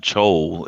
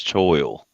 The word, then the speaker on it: choil: It's well, it's not chol. It's choil.